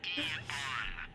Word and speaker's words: AEON: It's pronounced Eon.